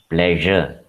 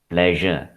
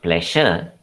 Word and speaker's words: pleasure: So it is pronounced as pleasure. Pleasure. It is not pleasure, it is pleasure. Similarly, leisure is pronounced as leisure. These are the two very common words which have this j sound.